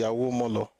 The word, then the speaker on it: Awomolo: Awomolo, it has to be Awomolo.